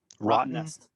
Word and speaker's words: Rottnest: Rottnest. Wow. All right. Yeah. That's how you pronounce it.